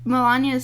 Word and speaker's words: Melania: They were playing, like, both Melania's speech.